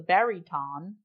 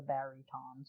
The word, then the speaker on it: baryton: The prince played an instrument called the baryton, which is like the bass, but with more strings. Okay. It's spelled Baryton, so it's not baritone.